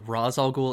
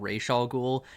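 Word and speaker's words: Ra's al Ghul: said raz al ghul it's heavily debated the proper pronunciation i've heard it both roz algul and rachael ghoul just in different versions of batman like in this end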